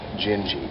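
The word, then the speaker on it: Dindi: And that song is called Gingy. It's spelled with a D. D-I-N-D-I.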